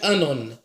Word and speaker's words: anone: septembre c'est ça s'appelle le fruit s'appelle anon c'est comme d'Anon il s'écrit mais bon il s'appelle anon je prends juste un